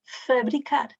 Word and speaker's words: fabricar: Aqui é tónica, dizemos A, é aberta, fábrica. Mas quando temos a palavra em posição átona, é fabricar. O A, que é aberto, passa a semifechado. Fábrica, mas fabricar. Fabricar. Esta é tónica, por isso é fabricar.